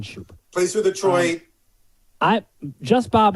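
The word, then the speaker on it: Schoop: I know there's lots of ways to pronounce his name. I've been told. I've heard it as Scoop. Yeah. I've heard it as Scoop. I've heard it as Scoop. Scoop. I just say Jonathan Shoop.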